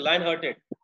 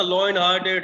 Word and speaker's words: lion-hearted: हु इज लाइन हार्टेड, इसको सही से प्रोनाउंस करना है। लॉइन मत करते ना, लॉइन हार्टेड, लॉइन नहीं होता, लाइन हार्टेड, ठीक है।